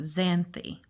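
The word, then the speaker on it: Xanthe: but I do and this is how they pronounce it zany I just wanted to jot that down it's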